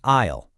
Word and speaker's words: aisle: An aisle is really just the walkway between the seats, but it's got a super tricky pronunciation. See that S in the spelling? Yeah, it's completely silent. So you say aisle.